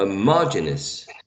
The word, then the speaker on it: homogeneous: the third syllable okay if the stress goes on in this in this in the second syllable you should be a homogeneous homogeneous and in the second cell right homogeneous yeah and